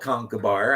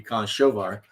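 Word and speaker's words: Conchobar: So my character, who was a Celtic hero named Concobar, spelled Concobar. I know it's the wrong pronunciation. It should be Conchovar.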